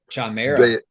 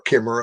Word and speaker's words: Chimera: Um Chimera. Yes. and and or Kimra or however you want to different pronunciations.